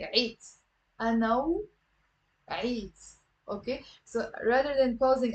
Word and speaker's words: وعيت: Okay, it's one syllable. أنا وعيت. It's not أنا وعيت. أنا وعيت. Okay, just say it once quick. وعيت. And if it's difficult, you can do a liaison and link it with أنا.